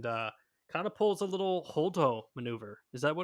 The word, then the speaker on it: Holdo: And kind of pulls a little holdo maneuver. Is that what it's called? Did I pronounce that correctly? Yeah, holdo.